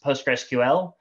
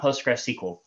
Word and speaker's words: PostgreSQL: call it postgres um the other acceptable form is postgresql not postgresql so under the covers